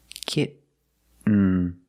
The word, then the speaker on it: kitten: Kitten. Kitten. But don't say kitten. I cannot pronounce these T's as a fast D.